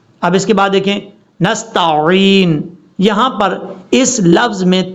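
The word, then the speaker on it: نستعين: نے کلیئر کرنا ہے۔ نستعین، عین کا پتہ چلے، عین، نستعین، یہ ہے اس کا پڑھنے کا صحیح طریقہ اور تلفظ۔ اب اس کے بعد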